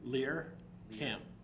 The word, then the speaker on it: Lehrkamp: Lehrkamp.